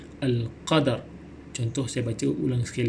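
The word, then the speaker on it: القدر: Jadi disebut dengan Al-Qadar. Jangan disebut dengan Al-Qad, itu salah, tapi kena nyatakan bunyi ra di hujungnya seperti berikut, Al-Qadar.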